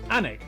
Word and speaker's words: Alnwick: Annick, which is near Newcastle.